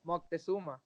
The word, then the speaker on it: Moctezuma: Oh, Moctezuma. Yes, that's it. I wouldn't even try to pronounce it.